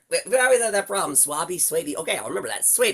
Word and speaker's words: Swaby: Suabi. Okay, I'll remember that. Suy Don people just you can it rhymes with baby.